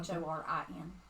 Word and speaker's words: Thorin: I Yeah, thought you said I thought you Thorna said or something. T-H-O-R-I-N. Thorn. Oh, Thorin. Thorn. Yeah. like a thorn in a... Thorin. Okay, and the No, other one? the N is pronounced.